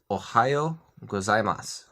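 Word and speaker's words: おはようございます: to a great start this is ohayo-gozaimasu there are actually a lot of sounds in here that are pronounced quickly enough to where you don't really hear them so the formal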